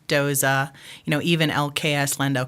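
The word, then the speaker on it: Doose: d okay but Herman Doza he's from Germany so it's pronounced Doza gotcha um yeah okay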